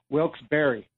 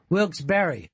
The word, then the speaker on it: Wilkes-Barre: __ ] hey boy it's pronounced wilkes-barre wilkes-barre okay I appear in